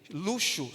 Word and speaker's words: luxo: aqueles som de z luxo som de X próximos também é o